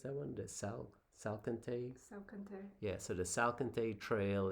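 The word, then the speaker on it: Salkantay: How do you pronounce that one? The Salcantay? Salcantay.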